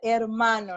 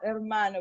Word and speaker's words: hermano: católica excelente and then don't forget hermano no hermano because the ice is silent el hermano okay yes okay mm-hmm